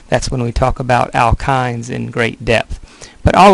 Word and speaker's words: alkynes: Alkynes, that's how you pronounce that last one, those are dealt with a good bit in chapter 9.